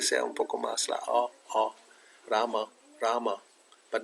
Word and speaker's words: Rama: follow Prabhupada's pronunciation, and he says Rama. It could be not completely O. It's not Ramo. It's Rama. It's a little bit going to. La tendencia es que sea un poco más la Rama, but not Ramo.